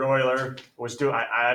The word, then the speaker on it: Euler: Leonard Euler yes Euler and it's actually spelled like this all right it's not you Euler Leonard Oiler it was too I